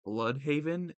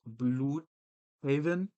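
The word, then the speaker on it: Blüdhaven: Like the pronunciation of Bloodhaven as Bluthaven.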